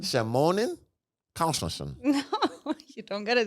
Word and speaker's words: Christensen: But if you want to say it proper, it's Christensen.